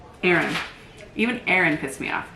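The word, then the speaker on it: Aren: Aaron. Even Aaron pissed me off. It's spelled A-R-E-N.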